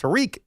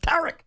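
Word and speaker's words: Tarik: And some people call him Tariq, but it's not pronounced Tariq. It's pronounced Tarek.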